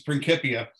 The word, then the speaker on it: Principia: when he wrote his principia so this is pronounced principals there's no uh there's no s sounding c's in the latin language and latin was the